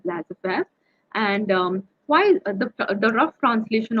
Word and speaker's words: laissez-faire: So as I told you, laissez-faire, this is a French word and the pronunciation is laissez-faire.